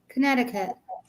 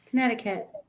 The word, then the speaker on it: Connecticut: it's spelled Connecticut what you don't pronounce the second C Connecticut Connecticut a Connecticut no we